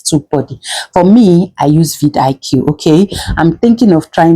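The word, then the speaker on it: vidIQ: I don't know if you guys pronounce it as Vidik. Yes, I call it Vid IQ.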